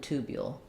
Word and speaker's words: tubule: lobule and tubule um and then this ooh might be a little bit reduced like lobule more of an uh and tubule um same as in blue beautiful and beautiful it's an ooh and then these would be more of an uh because it's in the unstressed syllable that is needs to